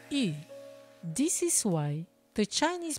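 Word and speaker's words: 余: In China, fish symbolizes abundance because the pronunciation of the word fish, yu, sounds like the word abundance, yu.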